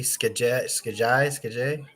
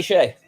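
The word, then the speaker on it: Skjei: I can never pronounce this guy's name, but Brady Skajai. Oh, Brady Shea. There you go. You got it. You nailed it.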